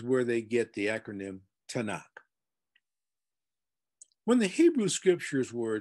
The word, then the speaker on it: Tanakh: 24 books in three different groups called the tanakh the t in tanak and that's spelled t-a-n-a-k-h the first five books are called